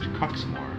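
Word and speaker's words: Quxmore: QUX. MORE is pronounced Cuxmore.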